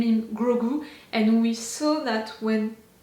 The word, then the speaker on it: Grogu: We have Grogu. That's great. That's how to say Grogu. Grogu. Grogu. I'm not gonna pronounce his name if I'm eating, you know.